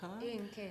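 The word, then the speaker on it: Ian Kiaer: think of, I hope I don't pronounce his name wrong, Ian Keir? Ian Keir, yes.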